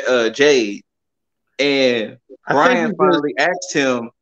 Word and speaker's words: Jade: yeah that's why he calls her jane instead of jade so she's jane cargill and then on the wwe